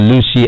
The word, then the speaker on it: Luscii: Download the Lucy app right now and connect to this service. Lucy is spelled Luscii.